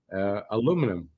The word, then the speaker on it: aluminum: It's easy to spell aluminum and to say it without adding a symbol or anything, a syllable. I mean, aluminum.